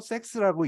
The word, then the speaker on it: CEX: Centralized Exchange를 줄여가지고 CEX, 줄여서 섹스라고 읽습니다.